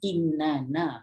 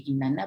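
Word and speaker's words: إنَّ: Macam inna kan, inna dia sebenarnya innana, ejaan asal dia lah innana. Tapi Rasulullah ajar kita baca, jangan baca innana, bacalah inna, panjangkan 3 harakat kat situ, tapi bubuh sabdu kat situ, inna, gitu.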